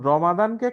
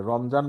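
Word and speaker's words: رمضان: জি, মানে রমজান মাস, এই যে রমাদান, রমাদান বা রমাজান, ঠিক আছে, এই যে দদ, জি, দদ, হ্যাঁ, এটাকে বর্গাজ্য উচ্চারণও করে, জ উচ্চারণও হয়, দ উচ্চারণও হয়, দুইটার মাঝামাঝি আসলে ব্যাপার।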